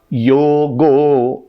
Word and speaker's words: योगः: असंयतात्मना योगो, असंयतात्मना योगो, योगः भी बोल सकते हैं, वो भी सही होगा।